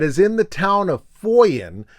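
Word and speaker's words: Funen: in the town of Foyen, which is spelled Funnen, and the name of this farmhouse is that of Jens Stavensgaard.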